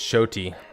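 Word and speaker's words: Xoti: I'm already mispronounced it it's not zotti it's shoy shoy flicks her sickle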